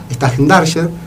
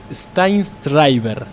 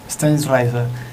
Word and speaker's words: Steinschreiber: A ver, atención, hay una voz desde el más allá, la de Agustina Edo, que lo va a pronunciar como se debe. Según Wikipedia, Steinschreiber. Steinschreiber.